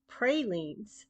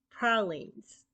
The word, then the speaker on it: pralines: jumbalaya I know that some people people say pralin but we invented the term in our particular version of the candy so it is correctly pronounced pralines pralines also has a mixed origin originally French but